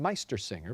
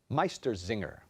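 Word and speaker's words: Meistersinger: trace his family tree back to a Bavarian Meister singer born in 1498 Meister singer can I have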